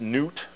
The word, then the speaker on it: Nut: What you have here is the sky goddess, and her name is spelled N-U-T, and I believe it's pronounced Newt.